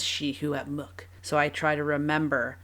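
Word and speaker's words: Secwépemc: to pronounce it because it is not spelled shihuepmuk. It's spelled, if I was going to be phonetic with how it's spelled sekwipimik. That would be how I would say it if I didn't have the help that she provides in how to pronounce it. And so shihuepmuk is how you say shuswap, which I think is awesome.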